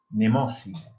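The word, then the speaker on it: Mnemósine: es el río de Nemósine. Se escribe un poco raro. Se escribe Memosine. Nemósine.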